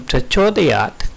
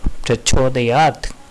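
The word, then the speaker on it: प्रचोदयात्: In Prachodayat, the cho is often mispronounced as a jo. In Vedic mantras, some words ending the verse are a little different. Here, Prachodayat.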